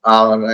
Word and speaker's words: hour: Honest, hour, and all the H. Most of the H in the beginning are silent.